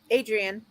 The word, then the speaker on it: Adrienne: in um artfully adrienne hey i can't even say it right adrian is that how you say your name how would you pronounce that adrian okay that's how oh and there's laura